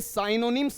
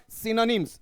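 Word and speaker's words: synonyms: इसका उच्चारण देख लीजिएगा, ये साइनोनिम्स नहीं है, साइनोनिम्स नहीं है, ये क्या है आपका सिनोनिम्स, सिनोनिम्स।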